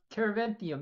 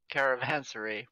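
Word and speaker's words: caravanserai: So, Caravanthium, yeah? Caravansary? Caravansary. Yeah, I been saying it wrong. Caravansary, yes. Yes.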